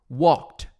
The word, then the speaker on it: walked: E esse ed você vai falar com som de T, tá? Olha só. Com som de T. Então vai soar assim, ó. Walked, walked.